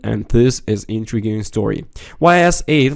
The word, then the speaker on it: Ys: so bad after all pronounced like East without a t y s is a long-running game series of role-playing games that date back to 1987 on the PC 880.